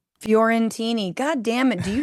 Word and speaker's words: Fiorentini: Furentini.